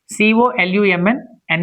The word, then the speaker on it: column: C o l u mn is silent column h y m n is silent him.